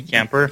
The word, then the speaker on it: Kuemper: Kuemper? Oh yeah, Darcy Kuemper.